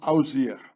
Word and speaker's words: Osiris: The name of Osiris was pronounced Ausir.